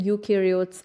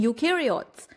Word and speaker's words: eukaryotes: Now watch me saying you in eukaryotes. You in eukaryotes rhymes with do.